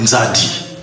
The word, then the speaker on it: Nzadi: Nzadi. Ils n'ont pas pu prononcer Nzadi, ils ont dit Zahir.